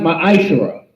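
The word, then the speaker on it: מעשר: Means tenth in the Hebrew, and is pronounced ma'ashera.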